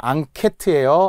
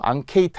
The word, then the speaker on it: 앙케트: 설문 조사 앙케트예요. 앙케이트 아닙니다.